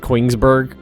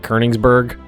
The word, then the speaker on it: Königsberg: Like the O with the umlaut over it is pronounced more like kind of like an E. So that would I always call it Koenigsberg, but it's more like Königsberg, something like that.